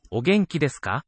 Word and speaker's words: お元気ですか: お元気ですかお元気ですか You'll hear that some syllables have a higher pitch, some a lower. お元気ですかお元気ですか From o to ge, those first two syllables in the sentence, there's a tonal upstep.